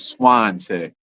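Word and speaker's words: Swantek: Uh, so it's Swan Tech.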